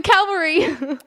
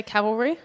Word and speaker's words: cavalry: can see it and next here come the Calvary Calvary is a good one a lot so cavalry oh yeah cavalry kaval rien have here come